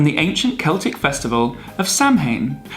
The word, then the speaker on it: Samhain: ancient Celtic festival of Samhain pronounced sir soin oh I probably should